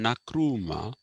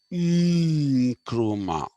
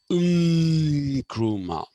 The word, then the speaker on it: Nkrumah: The correct pronunciation of that name is Nkrumah. That is the pronunciation. Nkrumah. So when you write an N, you don't say N or Na.